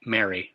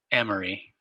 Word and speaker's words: M-ary: signals this always bothered me it should be mary right but it's pronounced emery m harry binary ternary quaternary anyway m-ary for